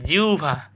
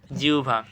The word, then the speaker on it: জিহ্বা: মধ্যানহ এটা মধ্যানহ মধ্যানহ এরপর জিহ্বা এটা কি হবে জিউভা সঠিক উচ্চারণ কি হবে বল জিউভা দেখা আমরা সঠিক উচ্চারণ